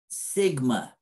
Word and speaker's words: sigma: standard deviation is this right here and it's pronounced sigma population variance is sigma squared okay so um